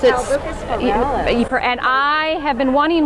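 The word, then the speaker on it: Albuca spiralis: How you pronounce it? Albucus pirellus.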